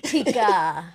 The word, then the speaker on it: tikka: Chicken tiki marsala. Chicken tiki marsala. Did I say it right, Monica? No, but it's okay. What is it? Tikka. Tika! Close. You want to make it Hawaiian, but it's not.